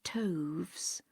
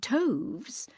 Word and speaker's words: toves: how to pronounce slithy toves. The I in slithy is long, as in writhe, and toves is pronounced so as to rhyme with groves.